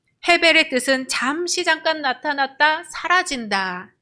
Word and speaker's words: 헤벨: 아벨의 이름은 발음할 때 헤벨이라고 한다고 했었죠. 헤벨의 뜻은 잠시 잠깐 나타났다 사라진다 이런 뜻도 있고, 안개의 이슬과 같은 것들, 또 숨을 쉬다 이런 뜻이 있어요.